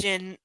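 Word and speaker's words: jinn: in the original Aladdin it's pronounced Jin as well you are right my apologies it is pronounced Jin and I just was reading phonetically she's still nervous around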